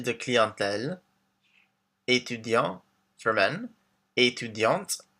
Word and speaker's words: étudiante: So we have professeur, informaticien for men, informaticienne for women, chargé de clientèle, étudiant for men, étudiante for women, with the T pronounced at the end, artiste, artist, directeur for